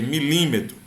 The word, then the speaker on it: milímetro: Que a gente pronuncia milímetro.